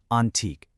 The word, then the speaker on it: Antique: It's the official four-step special education process from the school's division office of Antique, and that's pronounced antique.